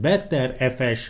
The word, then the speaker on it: BTRFS: Better-FS, jobb file rendszernek szokták mondani, különböző kiejtése van, lényeg.